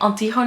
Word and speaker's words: Antigone: the play and tikani I think it's pronounced Antigone and Dutch I think we say aunty hone a thing a classical